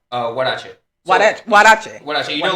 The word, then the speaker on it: huarache: Huarache.